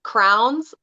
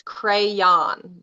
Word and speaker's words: crayon: point yeah I have my my sister-in-law says crowns and I was told very sternly it's crayon my whole life yeah that's right yeah it's